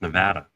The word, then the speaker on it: Nevada: pronounce it well it it's like Nevada Nevada I mean yeah Ryan said it right it's Nevada well I was I